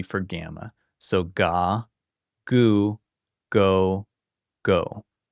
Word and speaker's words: γ: So when we do gamma with a front vowel, it sounds like a Y. Gamma with a back vowel sounds like a hard G.